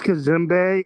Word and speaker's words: Kazimbe: Kazimbe or Kazim? It's Kazimbe, and I'm actually going to turn it over to my colleague.